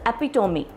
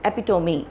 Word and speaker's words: epitome: example of something but the pronunciation is epitome so epitome you know it's like that ap me that's that's how you pronounce it epitome not epitome please remember and uh then